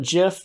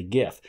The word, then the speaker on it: GIF: here now you know I don't call it Geoff just because it is no gif it's an acronym standing for graphic interface format and so G hard G graphic so this is a gif now let's head over